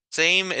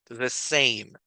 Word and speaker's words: same: en la misma clase same es una a larga la e no tiene sonido verdad Entonces vamos a pronunciar e la a la vamos a pronunciar como e same puedes leerlas otra vez